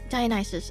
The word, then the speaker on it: Dionysus: Let's do pronunciation. Dionysus.